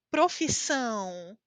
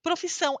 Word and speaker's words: profissão: é a sua profissão profissão escutaram profissão é uma palavra muito nasal por causa desse sinal aqui Você pode ter muitas